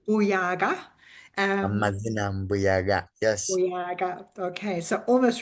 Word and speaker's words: Mbuyaga: Mbuyaga.